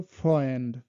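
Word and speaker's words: Freund: এ উ এটার উচ্চারণটা হয় অয়, মানে বাংলা হলো অয়, যেমন ভয়, এটা হলো ফ্রয়েন্ড, ফ্রয়েন্ড, ফ্রয়েন্ড, ফ্রয়েন্ড, অয়রোপা, অয়রোপা।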